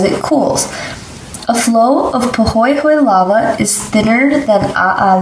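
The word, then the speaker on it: pāhoehoe: Pahoehoe lava is pronounced pahoehoe.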